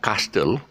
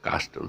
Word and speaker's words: castle: little castle okay uh castle uh is not castel castle so it's cast castle uh you got the tt